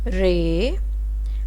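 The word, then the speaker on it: ر: Ray, RAY, ray. R is start for letter R.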